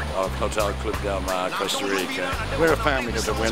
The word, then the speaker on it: Costa Rica: thank you very much Costa Rica oh you say cast I say coaster Costa Rica yeah that's not the right way to pronounce it you know